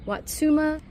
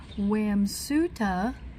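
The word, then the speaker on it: Wamsutta: Watsuma. Let me say it right this time. It's Wamsuta and not Watsuma.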